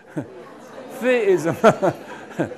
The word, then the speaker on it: theism: theism. 이빨 사이에 혓바닥을 갖다 대고 그냥 부는 거예요. 그게 th 사운드예요. monotheism 그런 거예요. theism인데 the이에요. 그대로 보면 때인데 아니 I 발음을 해요. 이 I를. 그래서 theism 그래요.